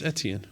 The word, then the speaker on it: Etienne: Travis Etienne. Is that how you pronounce his name? Yeah, Travis Etienne.